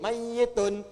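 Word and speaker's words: مَيِّت: Pakai tasdid mayyitun.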